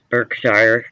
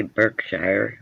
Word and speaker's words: Berkshire: We just don't say Berkshire. We say Berkshire. We say it wrong.